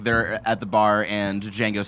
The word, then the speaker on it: Django: It's like the same scene where like they're at the bar and Django says like spells out his name, but it's like the J is silent.